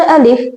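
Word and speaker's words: ا: So its sound is a sound, a sound. From where you are going to pronounce alif? So you have to pronounce alif from deepest part of throat.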